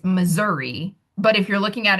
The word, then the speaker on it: Missouri: a short I vowel sound, it would be Missouri. Um not miser.